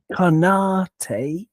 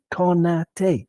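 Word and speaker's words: Konaté: Georgian, like Japanese and also like French, but you knew that anyway, has no stress whatsoever, which is why we don't say Konate, we say Konate, because it's boom, boom, boom, you see?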